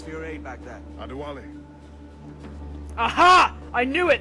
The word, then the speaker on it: Adewale: Adewale. Aha! I knew it! There's only an accent on the last E.